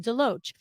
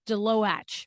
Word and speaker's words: Deloatch: say your last name, Deloatch. And I said to you, I thought that that's how to pronounce it, but when I see the T in it, I want to say Deloatch, right?